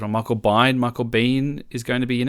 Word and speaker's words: Biehn: actually got some casting news today that Michael pronouncing on Michael bind Michael Biehn is going to be in it I don't